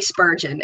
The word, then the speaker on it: Spurgeon: girlfriend's going places I'm telling you so Lily Spurgeon spu RG EO m is how you pronounce Pell her last name yes she did